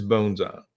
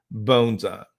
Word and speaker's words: bonsai: I would teach you the proper pronunciation of this word is bones up and if you messed up in the class and said bonds I would correct you bones up but that's just to